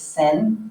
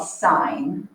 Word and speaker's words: sine: this hurts your heart or someone calls this sin let's not say you call this so i'm gonna put actually how we pronounce it that's called sine and when i say what is the sine